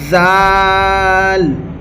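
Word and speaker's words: ذال: জাল জাল এই জাল অক্ষরটি আমাদেরকে এক আলিফ পরিমাণ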